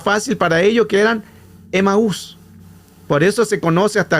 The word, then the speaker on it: Emaús: Los griegos tenían el control de aquellos lugares, pero los griegos, como no podían pronunciar la palabra Amat, que ese era el nombre original, le cambian el nombre a algo más fácil, que le colocan Emaús.